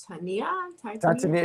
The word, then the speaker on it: Titania: Titania? Yeah, that's how it's like almost Titan, but you're saying it in a female term.